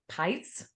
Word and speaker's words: Peitz: the opportunity to say it rhymes with lights I love it I